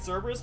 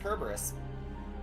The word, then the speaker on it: Cerberus: fact a dog kerberus yeah don't you read Cerberus Jordan no it's pronounced kerberus threw me off the first time too and